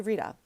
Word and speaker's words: Rita: Oh, it's pronounced Rita.